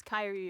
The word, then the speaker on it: Kyrie: They're going to pronounce my name wrong and be like. It's Kyrie. Everybody, my name's Kyrie.